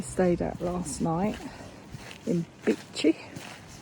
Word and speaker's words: Bitche: little town in France called Bitche, or Bitche, as Sarah likes to call it because of how it's spelt. And to be fair, it does sound better.